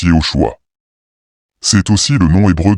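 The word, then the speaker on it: יהושע: Josué, en hébreu se prononce Yehoshua.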